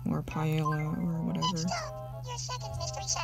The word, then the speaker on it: paella: like a bowl of paella or paella or whatever i keep going for the french or spanish pronunciation with two l's together make a sound kinda like the y which is my name